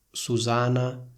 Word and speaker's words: Susana: In altre lingue europee esiste il nome Susanna con una N sola. Sentite la differenza tra Susanna e Susana? In un caso io dico si chiama Susanna, nell'altro dico si chiama Susana.